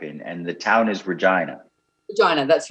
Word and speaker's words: Regina: and the town is regina vagina that's right i i always remember it rhymes with vagina yes vagina it's the